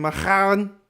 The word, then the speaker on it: Menahem Golan: Is that how you pronounce his name? Menahem?